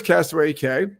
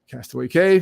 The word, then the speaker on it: Castaway Cay: Castaway Cay, pronounced both ways, is fine.